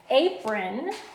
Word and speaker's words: apron: I have the word apron apron so apron has two syllables a so it stops right there on